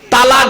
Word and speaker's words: তলাক: করতে স্বামী তার স্ত্রীকে তালাক দেয় তাই না দেয় না শব্দটা কিন্তু তালাক নয় খবরদার তালাক বলবেন না শব্দটা শব্দটা হলো তলাক কি বললাম তলাক তলাক